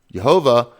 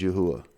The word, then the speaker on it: Yahuwah: You go ask any secular Jew in Israel how to pronounce those letters, and they will tell you Yahuwah. Jehovah is another way with the Vav in it, which is a Yiddish sound. The correct way is Yahuwah.